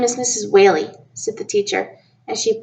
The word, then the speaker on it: Whaley: Whaley sit the teacher as she printed her name on the blackboard wh al e why I'm a whale with a wine for tail she laughed